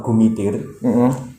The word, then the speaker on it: Kumitir: Satu hal yang membuat saya berpikir itu kenapa nama Kumitir atau sering diucapkan oleh orang dengan bunyi G di depan atau Gumitir itu sebenarnya adalah nama